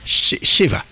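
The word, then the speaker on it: שבע: un Chine là-dedans c'est Cheva h mais c'est-à-dire que le B est prononcé comme un V et puis il y a pas le taf derrière h Sheva qui veut dire SEP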